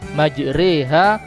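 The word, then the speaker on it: مجراها: Oleh karena itu, karena berjalan di laut identik dengan bergelombang, maka cara membacanya adalah dibaca miring atau dibaca imalah, majreha wa mursaha, untuk membedakan perjalanan darat dan perjalanan laut.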